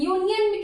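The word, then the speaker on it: union: आ है छोटा आ तो यहां पे एन यूनियन कैसे लिखते हैं यूनियन यू यू य य प्रोनाउंस करो हिंदी में यूनियन यूनियन तो य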